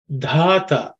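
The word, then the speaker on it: धाता: Dhata The first letter is Dha. This Dha is the fourth letter in the Tavarga.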